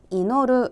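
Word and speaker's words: 祈る: ' 이노루 ' 라고 발음 합니다 .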